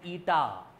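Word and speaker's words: eta: इसको प्रोनाउंस करते हैं एज ईटा, ईटीए, ईटा।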